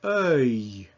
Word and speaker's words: œil: So it's EUIL, and the way it's pronounced is you take that like we saw in neuf, seul, and sœur, and then just add E on the end, and it's œil, œil, as in fauteuil, meaning armchair,